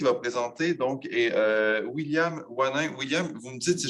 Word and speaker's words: Wannyn: Donc, la prochaine personne qui va présenter donc, est William Wanin. William, vous me dites si je ne prononce pas bien votre nom, hein, ça se peut, et je m'en excuse à l'avance.